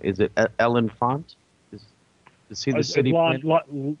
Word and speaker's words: L'Enfant: maybe I'm going to pronounce this man's name wrong. Is it L'Enfant? Is he the city planner? L'Enfant.